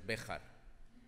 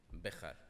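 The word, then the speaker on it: Béjar: The correct pronunciation for a Spaniard is Bejar, with a strong J, Bejar.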